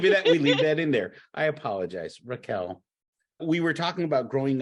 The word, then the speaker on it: Raquel: But if you learn how to embrace accountability, and it's so funny, Rachel, we were talking about growing up in cold places. Raquel.